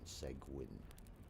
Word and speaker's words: Seguin: So, and if you wanted to check it out, it's spelled the segue part is spelled s e g u i n. Segwin.